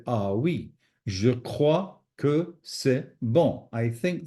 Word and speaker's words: crois: So again, pronunciation, we have to practice a little bit that, but you can see this OI is a wa sound.